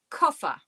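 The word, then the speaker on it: Koffer: I have to get in kufa. Kuffa is the pronunciation of this word and it means suitcase.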